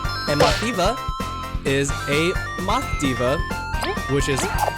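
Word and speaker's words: Mothiva: go with kaboom and my fever is a math Diva which is how the name is pronounced and she is based off a silkworm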